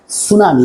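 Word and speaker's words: tsunami: কিন্তু আসলে উচ্চারণটা হচ্ছে সুনামি।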